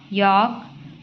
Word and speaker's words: yolk: In some words, L is silent as in calf, yolk, half.